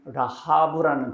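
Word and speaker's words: רהב: 자 라합 이건 라브라는 발음이죠.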